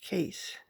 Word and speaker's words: Cheth: zayn number eight is case c-h-e-t-h pronounced case it is a symbol